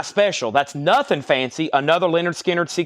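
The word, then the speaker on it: Lynyrd Skynyrd: one left we have pronounced Leonard skinnard one left 45 RPM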